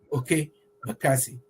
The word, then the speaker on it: Okey Bakassi: Yeah, let's spend Thanksgiving over there with Okey Bakassi. I think I pronounced it properly.